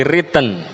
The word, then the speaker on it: written: Tidak lagi i-nya itu tidak lagi dibaca I, tapi written.